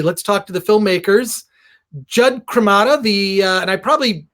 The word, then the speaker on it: Jud Cremata: Jud Cremata, and I probably butchered this pronunciation of your name.